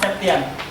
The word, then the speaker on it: Septian: Some of you maybe pronounce it Septian, just like but it's pronounced Septian.